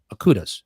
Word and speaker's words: Akuda: But it included bringing back the Akudas. That's how you say it, Akuda.